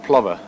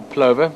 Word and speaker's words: plover: this little guy blacksmith Plover or Plover depending on how you prefer to pronounce it again we've spoken about